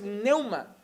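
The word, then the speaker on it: πνεῦμα: La palabra espíritu en este texto en griego es neuma, empieza por P. Lo que pasa es que yo como buen español no pronuncio las P's del principio.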